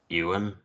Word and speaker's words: Ewan: actor Yan McGregor yeah I've only heard it as euan it's Yan it's Scottish no no I know